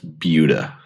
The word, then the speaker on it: Buda: It's like what about Buda? Buda. It's Buda.